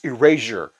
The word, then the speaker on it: Erasure: one time I'm like how do you say their name it's like oh it's Erasure I'm like really he's like yeah I'm sure of it Erasure that's I mean if you if something's been erased with this Erasure right no okay Rihanna I